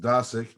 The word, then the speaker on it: Dosick: Actually, my last name is pronounced Dosick, and you can imagine